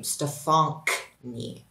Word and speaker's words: Stefanknie: Yes, that's actually how you pronounce the name, Stefanknie.